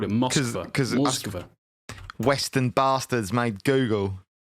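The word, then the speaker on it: Москва: But there's not an option for Russian pronunciation. Russian, they call it Moskva.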